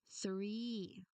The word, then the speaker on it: three: Next three. Three. Again that is number three. So the th sound here is voiceless. No, no vibrations at all.